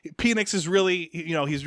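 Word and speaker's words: Penix: one what is it it's spelled p-e-n-i-x it's so good Phoenix is really you know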